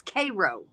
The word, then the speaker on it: Karo: that one more time no it's Cairo is like c-e-a-r like the Care Bears the Cairo bears but